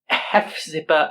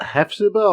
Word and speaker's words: Hephzibah: Is that Hephzibah or Hepzibah? I think it's pronounced Hepzibah. Like I know.